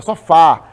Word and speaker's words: sofá: ninguém fala só fala sofá ela é mais forte assim um café esse